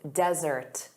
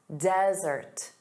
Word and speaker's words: desert: So, one S, dry arid land, desert. Desert. So, notice the syllable stress is on the first sound, da da, desert.